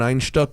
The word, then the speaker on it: Einstök: because it's Einstök, light. which is spelled Einstok. Wow. One star. You can actually get it at Einstök.